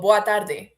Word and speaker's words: boa tarde: Oh, boa tarde. Boa tarde? The D is pronounced different.